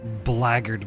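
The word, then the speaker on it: Blackguard: his thick skull nice Black Guard is pronounced blackgard by the way odd I know oh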